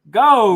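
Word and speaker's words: Geau: It's just go. It's French. It's go.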